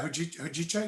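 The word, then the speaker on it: hojicha: Oh yeah, Hujicha, yeah.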